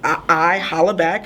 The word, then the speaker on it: ihollaback: Exactly how it sounds. I holla back. If you were a fan of that Gwen Stefani song, you'll know how it's spelled.